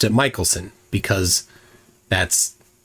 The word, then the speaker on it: Michelson: it with no dude mik Michelson it's Michaelson Morley here's here's what I've